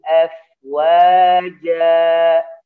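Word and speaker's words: أَفْوَاجًا: Wa ra'aitan nasa yadkhuluna fi dinillahi afwaja ya. Tidak boleh auf ya, tidak boleh. Wa ra'aitan nasa yadkhuluna fi dinillahi afwaja ya. Ja dialirkan, tidak boleh ja ditekan.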